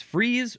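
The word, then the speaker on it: frieze: It is spelled fr i e z. So it's freeze or fay.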